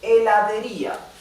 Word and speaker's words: heladería: La sílaba tónica está en la I. Heladería. Ia. Okay, so the accent is on I.